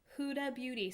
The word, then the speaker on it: Huda Beauty: Huda Beauty.